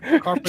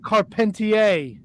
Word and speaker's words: Carpentier: Strombo, Dominic DeNucci, Eduardo Carpenter. Chief J. Strong, bro. Wait. Eduardo Carpenter. Did you hear him fucking just barrel through that? Eduardo Carpenter. Holy shit. How do you pronounce it? It's Canadian. Eduardo Carpentier.